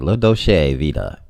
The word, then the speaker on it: La Dolce Vita: this is italian but let me say it right low doshay vita is one of the